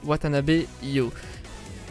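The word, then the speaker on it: Watanabe You: Et voilà comment ça se prononce, Watanabe Yo.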